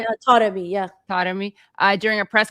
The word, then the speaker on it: Taremi: Taremi, yeah.